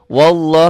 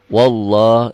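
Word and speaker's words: والله: tapi tetap dibacanya panjang wallah nah lafad Allah yang berbunyi seperti ini lafad Allah yang sebelumnya baris di atas seakan-akan ada w-nya wallah wallah jangan wallah wallah bismillah Iya lillah Iya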